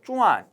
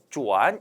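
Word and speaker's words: 转: 쭈안 이렇게 발음이 나기도 하고요. 요 글자 발음은 어떻게 나기도 하여 쭈안 이렇게 발음이 나기도 합니다.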